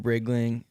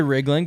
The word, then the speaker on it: Riegling: It's like a truck, and then ling, like Anything. anything, like ring, like ring-a-ling, It's like Riegling. Riesling, like the wine, but with a G.